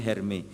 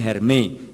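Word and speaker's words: Hermès: Minta tas Hermes Hermes Hermes itu bacanya hermi ya kalau Hermes itu saya ingatnya ayam goreng kremes sudah Dayat kalau Hermes bacanya hermei Ya Louis Vuitton LV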